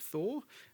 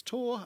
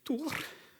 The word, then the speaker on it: Thor: mother's from Norway, and in the Nordic countries, the H is silent. So it's not Thor, it's Tor, unless you're my mother, in which case it's Thor.